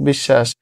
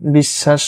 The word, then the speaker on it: বিশ্বাস: আছে যেমন অশ্ব পক্ষ বিশ্বাস এগুলো মতো মাঝে বা শেষে যদি ব ফলা থাকে সেগুলো হচ্ছে ব এর উচ্চারণ হয় না বাট যে শব্দের সাথে